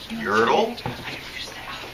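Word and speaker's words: Yertle: never heard that but it rhymes with turtle doesn't it yurtle there you go yurtle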